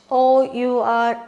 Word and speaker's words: hour: I told you h o u r h is silent so we pronounce it as our so in an hour